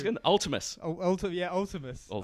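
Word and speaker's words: Vltimas: Oh, fucking how's it pronounced again? Ultimus. Ultimus. Or Viltimus.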